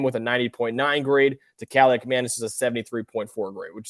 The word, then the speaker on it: Kaliakmanis: Ethan Kaliakmanis is how you pronounce his name.